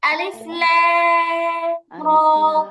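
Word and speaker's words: الر: ألف لام را রয়ের মধ্যে মাত্র এক আলিফ টান, সোজা হবে উচ্চারণ। আলিফ লাম র।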